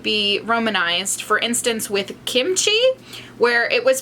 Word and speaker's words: kimchi: i'll say that like kimchi is probably closer to how you would pronounce it in korean kimchi it's a little bit harder of a k sound than kimchi in like the american way of saying it but when you look